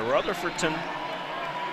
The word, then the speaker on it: Rutherfordton: That's a hard town to pronounce there. Rutherfordton is how you say it, though.